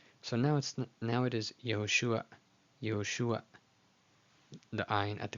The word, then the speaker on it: Yehoshua: but as we learned, this is a stolen patach, meaning the vowel sound is before the consonant. So now it is Yehoshua, Yehoshua, the ayin at the very end, but everybody pronounces it just Yehoshua, Yehoshua.